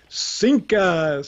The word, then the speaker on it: CINCUS: Right, because if you kind of just say that, phonetically, it's CINCUS.